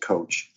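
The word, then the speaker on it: Kowch: K o w CH it looks like couch but she pronounces it coach tremendous narrative in her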